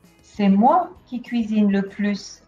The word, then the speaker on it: plus: moins tu gagnes le plus ils mangent le moins attention on prononce le s de plus c'est moi qui cuisine le plus à la maison avec